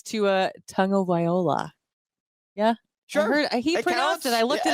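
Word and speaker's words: Tagovailoa: he pronounced it so it's it's to uh Tunga viola yeah sure I looked it up on the YouTube and it's on the internet his last name is tagoviloa it's tug of iloa it's like you know it's you some people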